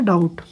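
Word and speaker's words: doubt: रहा है ठीक है तो डाउट में क्या होगा डाउट के मीनिंग क्या होता है एक तरह से संदेह होता है संदेह होता है डाउट है ना संधि तो यहां पे कौन लेटर साइलेंट होगा बी साइलेंट हुआ है ना लेकिन अब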